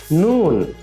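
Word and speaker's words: نون: মিম পরবর্তী হরফ হলো নুন সবাই আমার সাথে উচ্চারণ করো পরবর্তী হরফ নুন নুন নুন উচ্চারণের সময় জিহবার সামনের অংশ উপরের তালুর সাথে লাগবে সবাই আবার বলি নুন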